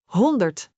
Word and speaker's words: honderd: Honderd.